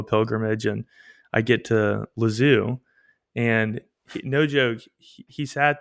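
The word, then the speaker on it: Lisieux: he sat there and made me try to pronounce it correctly for like, I don't know, it was probably a solid minute. And he would go, say it like this, les yeux. And I would go, les yeux. And he'd go, no, no, no, les yeux.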